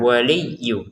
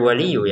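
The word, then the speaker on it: وليّ: Kata walinya ditekan waliyu. Jangan sekedar waliyu ya.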